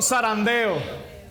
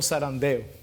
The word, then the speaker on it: zarandeo: Bendito zarandeo. Como no somos españoles no podemos pronunciar muy bien la Z ahí, ¿no? Pero un zarandeo con Z.